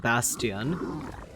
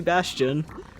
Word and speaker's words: Bastion: I was saying Bastion, which would be correct, but no, it's it's definitely Bastion.